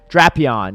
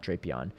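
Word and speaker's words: Drapion: But Draon, Shadow Draion. Unfortunately, the pronouncing is pronunciation is Draon, not Drapeon.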